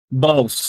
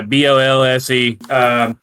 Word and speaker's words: Bolse: How do you pronounce it? Bolse, yeah, Bollse. And that was actually a level on Star Fox 64.